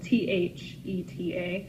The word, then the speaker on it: theta: That is spelled T-H-E-T-A, theta.